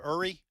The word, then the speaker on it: Yuri: He said, this is again, you pronounce the name Uri? Yuri Berliner, which sounds like a James Bond villain, frankly.